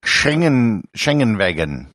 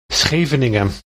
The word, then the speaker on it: Scheveningen: Scheveningen. Germans, and pretty much everyone else on the earth for that matter, cannot pronounce the word properly. The glottal sounds the Dutch use don't exist in German.